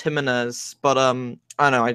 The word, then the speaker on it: Jimenez: Jimenez surprisingly Jimenez like I it is pronounced Jimenez but um I know I just like to